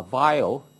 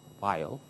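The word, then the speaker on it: Weyl: will do so uh vile w y l L vile uh I think this is although written as a w pronounced like a V vile uh he proposed the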